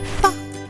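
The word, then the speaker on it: ف: Repeat with me, Fa. This letter is pronounced like English F as in far.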